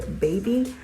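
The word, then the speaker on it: Baeby: I got mine in the color Baby. So it's baby, but it's spelled different, like B-A-E-B-Y.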